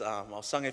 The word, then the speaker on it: Ausange: Okay, so if you see, it's Ausange, but everyone calls me the last 4 letters, which is pronounced not sage for my European brothers and sisters. It's pronounced sange as well.